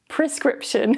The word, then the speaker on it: prescription: Check the dictionary, and of course, the R is pronounced, so I had to correct myself. So yeah, don't do what I did. Prescription is the correct pronunciation.